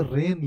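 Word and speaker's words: rain: जो वर्ड लिखा हुआ है राइन नहीं लिखा है ये रेन लिखा हुआ है और य इन स्पेन लिखा है और हम स्पाइन पढ़े तो सोचिए ना सामने वाला तो अपना सर खुज लाएगा कि भाई यह बोल क्या रहा है मेरे को समझ में क्यों नहीं आ रहा है तो राइन इन स्पाइन नहीं रेन इन स्पेन यानी अल्टीमेट मतलब फाइनल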